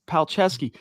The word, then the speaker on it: Palczewski: And I not while we're live, but I'm pretty sure it's Palczewski.